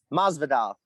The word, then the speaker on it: Masvidal: I feel like Masvidal, how do you pronounce the last name? Is it Masvidal? Masvidal.